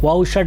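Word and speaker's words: वषट्: नेत्र त्र याय व खट खट यह वैदिक उच्चारण है तो व व शट व शट भी बोल सकते हैं व शट ही बोलना चाहिए मेरा थोड़ा वैदिक उच्चारण का अभ्यास बना इसलिए व खट ऐसे निकल आता है ए अस्त्रा फट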